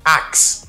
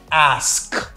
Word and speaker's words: ask: The second word, people usually say axe. En pile moun fè yo sa. Yo di axe. Can I ask you a question? No, it's not axe. It's ask.